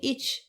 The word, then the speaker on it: ich: With regard to the other pronouns, it will suffice to mention that the form ich, with ch pronounced as in rich, was general in the South, while elsewhere the Old English ich became I early in the 13th century.